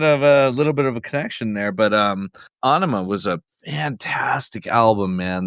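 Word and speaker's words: Ænima: Anima is actually how they pronounce it.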